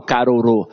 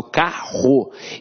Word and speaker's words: carro: tenho um diga vou eu não falo caro eu falo carro então esses dois erres aqui tem um som de r forte então apesar de ter cinco